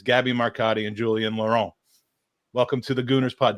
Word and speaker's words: Julien Laurent: It's Gabby Marcotti and Julien Laurent. Welcome to the Gooners Pod. Did I pronounce that okay, Julien?